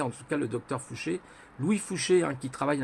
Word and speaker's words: Fouché: vous retrouverez un Louis Fouché, comme ça se prononce, Fouché, Fouche-E, S, je crois, à la fin. Louis, voilà, comme Louis, comme tous les Louis. Personne très intéressante, Louis Fouché.